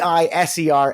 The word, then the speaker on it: Eiserman: more Jewish way e i s e r m an uh and that's eer you know like that real sort of Jewish pronunciation on it his name was Cole